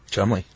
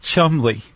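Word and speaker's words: Cholmondeley: Charles C H O L M O N D E L E Y pronounced Chumley. Yeah. And apparently when he met people he would say uh Lieutenant Charles Chumley.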